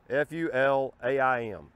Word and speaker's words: Fulaim: But it's made by a company called Fulaim, or Fulaim, Fulaim, F-U-L-A-I-M. And in my pronunciation, it'd be Fulaim.